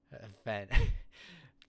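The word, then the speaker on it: whenua: Oh, wh makes the f sound. Remember, wh makes the f sound. So, it's fenua fenua.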